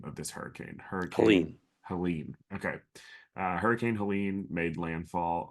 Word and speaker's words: Helene: I'm really bad at pronouncing the name of this hurricane. Hurricane Helene. Helene.